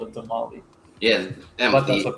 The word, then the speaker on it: tamal: It's like when people say tamale. It's tamal or tamales. Like it's. Tamale. You can't just take the S off the plural and call it a tamale.